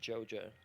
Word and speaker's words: Georgia: yeah, what I said is Georgia, but you know they pronounce it Joja Mm. down there, so that's how they do it.